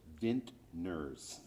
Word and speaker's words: vintner: How do you pronounce that properly? Vintner. Vintner.